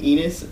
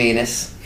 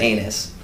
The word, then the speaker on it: Ennis: No one ever said anus. Well, it starts with an E.